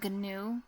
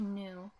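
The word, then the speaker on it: GNU: is actually pronounced new this is real pronunciation it's not G new it's actually new that's what I read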